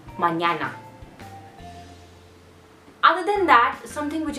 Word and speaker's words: mañana: is the you know mixture of N and Y sound so it is MA and there are many letters which have this many girls in fact which have this letter for example tomorrow in English language means manana in Spanish language so it would be mañana other than that something